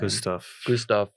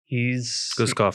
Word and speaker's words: Guskov: I mean, but at the same time, how to pronounce this guy's name? Gustav. Guskov, sorry, Gustav.